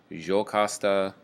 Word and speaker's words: Jocasta: Oedipus, the king of Thebes, Iocasta or Iocaste or Jocasta, depends on your pronunciation preference.